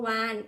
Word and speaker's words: วาฬ: คำ ว่า วาฬ เนี่ย เวลา เรา สะกด เรา ก็ จะ สะกด ว่า ว อาน วาน ใช่ มั้ย คะ แต่ เมื่อ เรา มา ดู รูป แล้ว เนี่ย เขา ก็ จะ ใช้ รูป ของ ตัว ล จุฬา ใน การ เอ่อ ที่ จะ เป็น ตัว สะกด นั่น เอง ค่ะ ลักษณะ ที่ 2 ของ